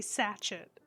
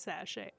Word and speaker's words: sashay: sound like when they're spelled like sashay I will always say sachet if I read it but I know it's sashay mostly well behaved but